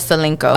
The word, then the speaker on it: Celinko: So, the song is it Celinko? Yes, it's called Celinko. Okay. I want to make sure I was saying it correctly.